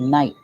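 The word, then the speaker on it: Kneipp: are the German like they're called Knight k-n-i-e-p-p the K is silent these are pure these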